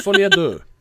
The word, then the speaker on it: Folie à deux: I don't even know how to pronounce that. Folie à deux. For fucking 7 years. Yeah, it's Folie à deux.